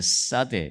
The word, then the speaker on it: 사데: 발음을 좀 세게 해야 돼. 사대.